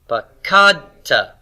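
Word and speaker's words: פָּקַדְתָּ: You see the accent mark here? Why? Well, because it's not final syllable stress.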